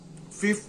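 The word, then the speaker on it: ふ: इसमें हु नहीं आता, इसमें फू आता है।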